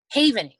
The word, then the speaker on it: Havening: And spell it, Havening? Havening, like a self-haven.